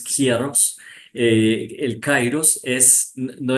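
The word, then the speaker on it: καιρός: para tiempo que eh nosotros la pronunciamos como cairos en la lengua castillana pero en en griego es kieros eh el kairos es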